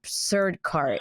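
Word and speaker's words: Sircar: but the person who yeah, the person who plays Vicky, I think it's Surdkar is the way we pronounce her last name, but she's a Tamil background, like an Indian Tamil actress.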